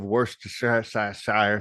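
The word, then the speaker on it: Worcestershire: that you saved uh a few dashes of worst Shire sauce that's pronounced correctly and uh a little bit of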